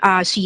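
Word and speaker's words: Xu: It's pronounced Xi.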